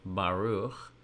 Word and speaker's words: Baruch: Baruch, my Hebrew name, Baruch, takes only one consonant letter plus a vowel to make the first syllable, ba, ba, the letter bait, and the T-looking symbol